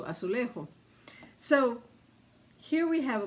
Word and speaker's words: azulejo: It's pronounced differently, but it's spelled the same. It's azulejo, azulejo, as opposed to azulejo.